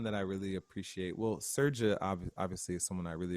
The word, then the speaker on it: Srdja: So Serja is definitely one. His name is spelled Srdja, Serja Popovich. And then Eric McBay, Eric spelled with an Aric.